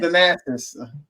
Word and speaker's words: Thanasis: Oh, no, it's Thanasis.